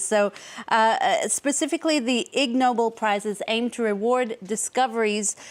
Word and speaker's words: Ig Nobel: it's actually pronounced uh IGN Noble and as you can guess it's a play on words of the actual Nobel prizes so uh specifically the IG Noble prizes aimed to reward